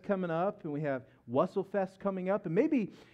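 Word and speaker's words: Wurst: I know how to. It's Wussel.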